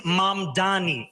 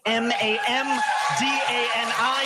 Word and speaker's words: Mamdani: And furthermore, the name is Mamdani, Mamdani.